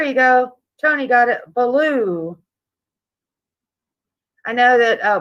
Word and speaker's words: Baloo: go Tony got it blue I know that uh blue will make it is pronounced like that but yeah it's Baloo b-a-l-o-o either way though you